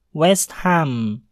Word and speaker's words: West Ham: menjadi vuln fulem Adapun pengecualian terdapat pada kata West Ham West Ham hal pada kata hem dibunyikan dengan jelas dikarenakan HAM terpisah dengan kata wes sehingga berbunyi West Ham West Ham Hai tips